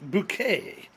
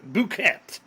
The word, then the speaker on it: bouquet: a safe insane fountain called bouquet or for some of us who can't pronounce things correctly boo cats or boo quit so let's take a